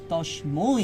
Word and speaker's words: তস্মৈ: লোকত্রয় লোকত্রয় উপকারায় উপকারায় লোকত্রয় লোকত্রয় উপকারায় উপকারায় তস্মৈ তস্মৈ এই উচ্চারণটা একটু ক্লিয়ার করতে হবে যেহেতু ঐকার আছে, হ্যাঁ, তস্মৈ।